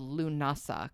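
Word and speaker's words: Lúnasa: A lot of times in modern Irish, um this holiday is spelled lunasa kind of like like you like it sounds.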